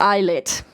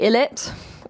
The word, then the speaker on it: ILLIT: have magnetic by eyelet yes and it is pronounced eyelet uh a lot of people say illit it's pronounced IET I can actually read hungo